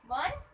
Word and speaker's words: one: So let's see, it start with vowel O-N-E, but when we pronounce one, it's begin with W, with the consonant sound.